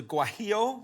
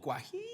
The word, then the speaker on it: guajillo: This is a guajillo or guaque You have to say guajillo.